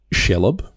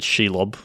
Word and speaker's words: Shelob: This one I just thought was cool because it's Shelob, I think is how you pronounce it. Shelob? Yeah, I've always said Shelob.